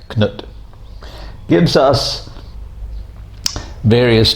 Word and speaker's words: Knut: Knut, very famous king, usually in English called Canute, but his Danish pronunciation or Norse pronunciation is more like Knut.